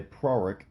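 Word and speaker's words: Prorok: archaeologist by the name of count byron de proric which is p-r-o-r-o-k a hard time you know pronouncing words with two hours that close together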